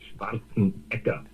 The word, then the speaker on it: Schwarzenegger: Actually, in Austria, they pronounce it Schwarzenegger.